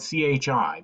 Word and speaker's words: chi: X is actually the Greek letter Chi spelled c-h-i but pronounced Chi and so Chi square is another